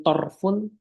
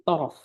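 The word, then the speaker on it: طَرَف: Jadi bukan torfun tapi torof. Dikasih keterangan bifat hiro itu untuk menegaskan kalau bacaannya itu adalah dengan difathahkan ro-nya.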